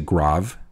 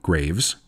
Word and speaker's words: Graves: Definitely say Grave and not Graves. And as a way to remember the pronunciation, just know that the name refers to the gravelly soils in the area.